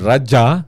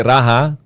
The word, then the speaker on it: Raja: That's why the word Raja, dili Raha, klaruhan na ninyo kanunay, makabasa ka ni mo na. Ang Spanish may nag-mention na nagraha. Di man sila ka-pronounce J.